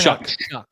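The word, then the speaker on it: Shough: coming out of Lille isn't it shuck shck I've heard heard it's shuck Okay Tyler we could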